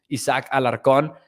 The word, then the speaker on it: Isaac Alarcon: will pronounce it as it really should be pronounced isaac alarcon isaac is getting reps to tackle out there